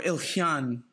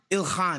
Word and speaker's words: Ilhan: yes yes we love you ilyan omar or ilhyan yeah ilhan yeah excuse me i'm watching i'm gonna get